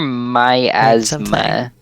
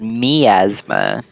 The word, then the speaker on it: miasma: you're us it does it does say that that's the American pronunciation oh okay uh apparently the British pronunciation is miasma interesting my asthma in